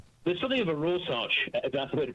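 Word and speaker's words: Rorschach: There's something of a rosarch that's the way to pronounce it test there.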